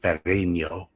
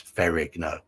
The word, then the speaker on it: Ferrigno: So you pronounce the IG. It's not Italian. It's not Ferrigno. It's Ferrigno.